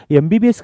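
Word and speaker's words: MBBS: लेकिन अगर आप देखेंगे एमबीबीएस एमबीबीएस का प्रोनाउंसिएशन म से नहीं होता। एमबीबीएस य अ साउंड से होता है। और अ क्या है? वोवेल है।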